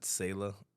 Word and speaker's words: Selah: right s-e-l-a-s-e-l oh okay yeah okay so we pronounce it sayla I think the Hebrew maybe Salah okay but neither one are a little black